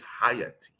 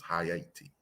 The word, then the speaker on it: Haiti: port first and foremost let's pronounce it correctly it's higher t if you could pronounce the haiti you're using you're american sensibilities it is high eighty in haiti first country to